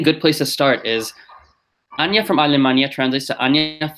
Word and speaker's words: Anja: people don't know, because my name is spelled A-N-J-A, and a lot of people would say Anja or Anja. But with that name, they get used to this, like A-N-J-A is spelled Anja and not Anja or Anja or Anja.